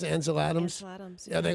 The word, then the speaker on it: Ansel Adams: Is that how you pronounce it? Ansel Adams? Ansel Adams.